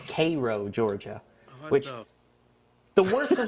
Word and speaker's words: Cairo: my favorite is uh there's a city spelled c a i r o oh no Cairo no it's pronounced kro what thein what I I learned that very quickly that it's Koo Georgia which the worst of when I was